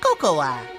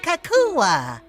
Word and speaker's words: Cocoa: never heard of cocoa kakua kakowa it's pronounced Coco oh I love Coco new from Kellogg's Rice Krispies cocoa rice krispies now with a delicious hint of real cocoa Coco the a is silent it did yeah it